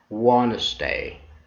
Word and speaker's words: Wednesday: d rule number one d is not pronounced when it comes after or sometimes before the letter n and remember two d